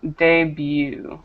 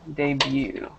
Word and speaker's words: debut: correction was this one debut debut Deb that t is silent his debut performance de